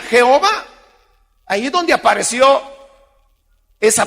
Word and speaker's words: Jehová: vista el hecho que al poner las vocales de ado nay la intención de los más sobre tan no había sido inventar el nombre jehová sino que la intención había sido obligarlos a que pronunciarán adonay es decir señor pero como eso se perdió de la gente lo que hizo fue comenzar a leerlo así como estaba escrito y se leía jehová ahí es donde apareció